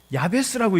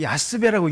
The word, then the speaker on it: 야베스: 근데 이번에 제가 이 본문을 가지고 어느 그 크리스찬 기업에 가서 예배를 드리는데, 그 어떤 분이 이 본문을 봉독을 하시는데 야베스라고 읽지 않고 야스베라고 읽는 거예요.